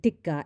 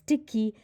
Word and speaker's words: tikka: What followed was a performance in culinary cluelessness, pronouncing tikka as tikki, likening the biryani to Wonder Bread, and even saying that the biryani cart outside her house serves a better plate.